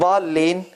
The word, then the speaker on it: ضالين: And ضالين, obviously it's hitting the right.